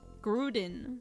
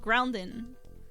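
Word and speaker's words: Groudon: I like how Say it like you just without the N. Gruden. Grud Gruden. No, Grounden. It's a ground Pokemon.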